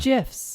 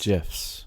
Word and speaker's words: GIF: oh yeah gifs gifs which i always called gifs but they're not but they're pronounced gifs gifs and who says that well the inventor he actually invented them for compuserve and he did it that way because he wanted he